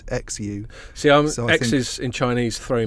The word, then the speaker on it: Xu: you just said it's like SH. SH. So that's what I'm going for. I'm going for Xu.